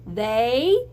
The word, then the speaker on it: they: give where what Sam they there's a th look at that it's an E and it sounds like an a they the eight sounds like